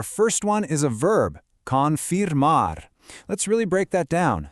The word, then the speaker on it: confirmar: Confirmar. Let's really break that down. Say it nice and slow with me. Con Mar.